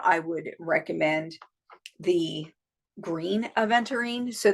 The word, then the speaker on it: aventurine: would recommend the green aventurine so that is a v e n t u r i n e I think aventurine so or venturing some people pronounce it I have a